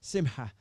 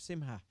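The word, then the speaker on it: שמחה: People will correct my pronunciation on that, but simha, a hard ha sound in the middle. Okay, simha, ha.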